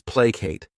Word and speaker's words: placate: The next verb is placate. This word has 2 syllables, and the stress is on that first syllable. Placate.